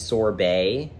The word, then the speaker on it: sorbet: Like, this is sorbet. You don't pronounce the T.